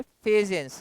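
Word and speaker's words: Fajans: अब बेटा next topic हम लोग करने वाले हैं फेजेंस रूल। कुछ लोग फजांस रूल बोलते हैं, कुछ लोग फेजेंस रूल बोलते हैं। आपको जो बोलना है आप बोल सकते हैं, बट स्पेलिंग यही रहेगा, स्पेलिंग आप चेंज नहीं करिएगा।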